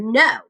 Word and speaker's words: know: So like silent K for the word no.